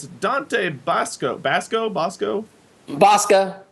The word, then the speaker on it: Basco: It's Dante Basco. Basco? Bosca. It's been pronounced both ways, but I'm really Bosca.